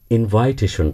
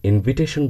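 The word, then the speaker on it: invitation: না, প্রোনাউন্সিয়েশন হলো দাওয়াত শব্দটির ইংরেজি, যেটি আমরা অনেকেই ইনভাইটেশন বলে জানি। এটি থেকে বেরিয়ে এসে আমি যখনই ইনভিটেশন বলতে শিখি, তখন আমি ভুল প্রোনাউন্সিয়েশন থেকে শুদ্ধ শব্দে চলে আসি।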